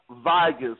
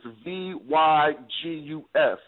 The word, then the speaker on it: Vygus: It's Mark Vigus, Vygus.